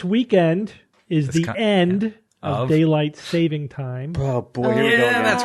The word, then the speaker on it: daylight saving time: to get rid of daylight saving time for a couple of reasons the big one is that nobody knows how to pronounce it and they say daylight savings time but Evan tell us